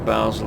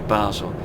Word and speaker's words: Basel: Like, I said Basel, but Basel is how the German speaking side of Switzerland pronounce that city, but the French speaking side of the city pronounce it Basel, not Basel.